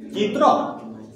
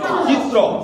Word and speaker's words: চিত্র: হয় তাহলে আমরা কি চিত্র উচ্চারণ করি? চিত্র, আমরা কি উচ্চারণ করি? চিত্র। তাহলে তয়র ফলাটা হওয়া উচিত হচ্ছে বানান অনুযায়ী হওয়া উচিত র, কিন্তু উচ্চারণ অনুযায়ী এটা কি হয়ে যাচ্ছে তয় তয় র।